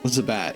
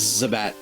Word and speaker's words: Zubat: I pronounced it wrong. The Zubat. Zubat, yeah. It is Zubat.